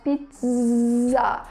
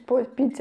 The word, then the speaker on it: pizza: E em francês eles vão falar exatamente com o som de Z, então eles vão falar pizza. Então eles têm essa Z na língua que a gente não faz.